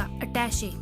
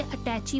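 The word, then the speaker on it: attaché: यह है हमारा पहला वर्ड, कागजात रखने का छोटा बक्सा, अटैचे। कुछ लोग इसे अटैची बोलते हैं, जो कि इसका सही प्रोनाउंसिएशन नहीं है। इसका सही प्रोनाउंसिएशन है अटैचे।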